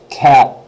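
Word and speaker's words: quatre: now this one is if I say it really slow it's two syllables cat cat that rolled R there is the second syllable the E is virtually signed so cat but if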